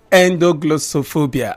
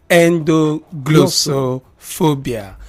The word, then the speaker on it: endoglossophobia: wondering what it is, so you just say endo first, and then glosso second, then phobia. So ENDOGLOSSO, then the spelling of phobia PHOBIA. So I take that again. ENDOGLOSSOPHOBIA.